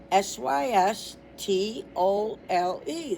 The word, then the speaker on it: systole: Okay, pronounced systole. Systolei.